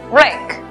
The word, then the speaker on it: wreck: La palabra destrucción, que se escribe, notamos que hay W antes de R al comienzo. La W es muda. Por lo tanto, la pronunciación es wreck.